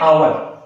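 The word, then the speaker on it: hour: यहां पे क्या है आवर अब यहां पे कुछ ज इसको क्या पढ़ते हैं होवर होवर ये होवर नहीं होता है एच क्या होता है साइलेंट होता है इसको कैसे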